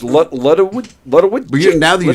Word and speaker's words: Lodewijk: Paul said Ludwig. However you pronounce it. Vicky said Ludwig. Andy Pagano said Lefty Nuts. Oh, John Russillo said drugstore. Oh, my goodness. You're close enough. It's right. Lodewijk.